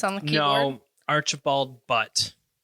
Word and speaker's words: Butt: No, Archibald Butt. It may be pronounced Butte. I don't know, but it's spelled B-U-T-T. But. Butte, Montana. That's B-U-T-T-E. That's true. So it's got to be Butt.